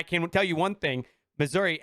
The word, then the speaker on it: Missouri: tell you one thing missouri ends with a i not an a so i mean i i you know living in the state myself i call it misery yeah that's that it